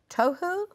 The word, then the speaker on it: tohu: Without form and void in the Hebrew are tohu va bohu. Yeah. Sounds like it rhymes, that. Huh? Tohu. T-O-E. T-O-H-U. but pronounced like T-O-E. T-O-H-U tohu.